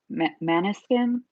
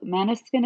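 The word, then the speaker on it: Måneskin: interview and they're like, "Well, Maniskin is how people pronounce it in Italy, but that's not correct." And I was like, "Wait, what?" Because that's the only way I've ever heard people say it. And then I got really confused. But I guess it's like a Dutch word, um, and it's pronounced differently in that language.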